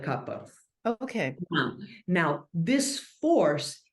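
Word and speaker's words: Kapha: this this is the Kappa or kafa how do you pronounce it we call it Kappa Kaa okay but we call it Capa okay now now this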